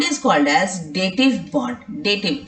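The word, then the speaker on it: dative: डेटिव, इट इज डेटिव नॉट डेटेड।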